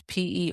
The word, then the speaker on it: Perrault: Perrault, which is Perrault. I'm the only person in the world that has chosen a pseudonym that is also hard to pronounce.